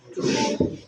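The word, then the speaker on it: two: මොකක්ද අප්පච්චි silent letter එක? දා. හැබැයි උච්චාරණය වෙනවද? නෑ. ඒතකොට උච්චාරණය වෙන්නේ කොහොමද word එක? 2.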